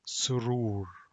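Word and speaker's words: سرور: And here it's pronounced like R, and the middle one is wow, pronounced like O. So it's surur, surur is happiness, surur.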